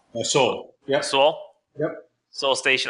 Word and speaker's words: Seoul: Seoul? Soul. Yep. Soul. Yep. Soul Station. I almost called it Soul Train. That's the same. Same pronunciation.